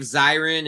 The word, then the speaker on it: Zirin: Yeah, it's Dave Zirin, and it's totally okay. I think my mom mispronounces it sometimes.